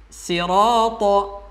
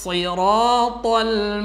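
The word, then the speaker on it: الصراط: Sod ketika berharokat kasrah, jikalau kita membacanya biasa sahabat Quran, maka akan terdengar seperti sin. Misalnya, ihdinas sirata. Maka biar berbeda, biar tebal bunyinya, maka ihdinas siratal mustaqim. As-si, bukan as-si, jadi sin nanti ya.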